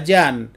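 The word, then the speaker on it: Jean: karakter etekon tten ya Sebenarnya aku sadar kalau pengucapan nama karakter ini adalah Jan bukan Jin lalu karakter ini adalah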